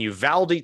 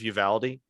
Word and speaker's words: Uvalde: And, my parents live north of Uvalde. And it is Uvalde. I've not been able to understand how to pronounce that name. Uvalde. No, it's Uvalde, Texas.